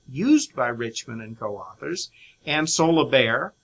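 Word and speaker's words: Ansolabehere: But then the authors or the creators of the data collection project used by Richman and co-authors, Ann Solobair, that's a tricky one, but it's pronounced Ann Solobair, Lux and Schaffner, they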